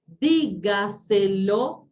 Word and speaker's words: dígaselo: Por ejemplo, miren aquí el Word lo corrigió, por ejemplo, dígaselo, si esta lleva tilde, ¿sí? Ahora sí. Comprándoselo, dígaselo, antepenúltima sílaba, ¿sí?